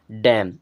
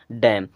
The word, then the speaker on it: dam: उसी प्रकार अब DAM, इसे हमें पढ़ना है डैम। इसे क्या पढ़ना है? डैम। अगर हम 12 खड़ी के भरोसे रहेंगे तो इसे हम पढ़ेंगे डाम, लेकिन ये गलत हो जाएगा क्योंकि इसका सही प्रोनाउंसिएशन होता है डैम।